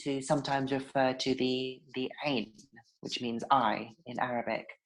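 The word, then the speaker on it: عين: So phonetically in English, you'd write it as AIYN, but it has sort of a funny little sound in the middle of it, it's like a discorded sound. So it's ain.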